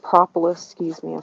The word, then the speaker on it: propolis: So I've got propolis traps, not propolis, excuse me, I say it wrong every time.